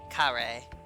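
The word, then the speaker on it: カレー: It's also literally just kare. Like That's honestly. That sounds like English. Like they it's just because mispronounce curry.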